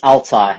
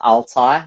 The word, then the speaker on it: Altay: It's Altai, yeah, that's Altay.